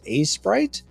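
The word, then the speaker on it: Aseprite: I use A-Sprite. It's spelled A-E Sprite.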